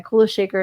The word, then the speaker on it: Kula Shaker: Okay, Kula Shaker is how you say it, but I don't know who that is.